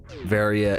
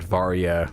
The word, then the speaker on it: Varia: Or in Japan, you know, the A has a certain sound, so it's barrier and baria. So I think both varia and varia are perfectly acceptable English versions of this suit.